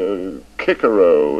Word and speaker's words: Cicero: I admit that I I don't agree with the new pronunciation I never did a lot of nonsense in my opinion making boys say a kikaro at school when um for the rest of their lives they'll say Cicero if they ever say